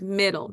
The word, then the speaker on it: middle: Let's do the word middle. Mid, dull. Id. Mid, id. And then we have second syllable, dull. D-ol. D-ol. And remember, 2 letters with that ending there. Middle. All right. And the one on the end is silent.